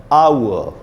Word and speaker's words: hour: इस वर्ड में H silent है, तो इसमें सिर्फ ये बचेगा आ, क्यों H तो साइलेंट है, हावर्ड तो नहीं बोल सकते, तो आ, छोटा ऊ और आधा अ, आउअ, आ उ अ, ये